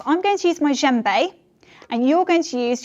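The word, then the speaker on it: djembe: you is an instrument called a gembe which is spelled d j e m b e that's not what you think it is and traditionally it's from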